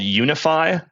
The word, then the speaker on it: UniFFI: Yeah, it's called Unify, spelled like uni and then FFI as in foreign function interface.